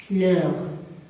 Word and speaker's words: l'heure: Par exemple, l'heure. Donc, toujours H ici, c'est muet. Je répète, muet, c'est-à-dire on ne peut pas la prononcer. H muet, c'est H qui ne se prononce pas.